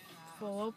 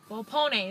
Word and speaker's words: Volpone: Volope? I don't even know how to say it. It's Italian, and I'm Italian, so it's a little pathetic. Volpone, there you go.